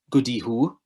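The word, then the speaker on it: gwdihŵ: the letter g so you pronounce that goody who and that is the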